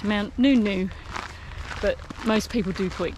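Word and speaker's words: Ngungun: come and just started doing mountain spout in gun gun but apparently it's pronounced mount nunu but most people do point gun gun i'm not sure how far it is we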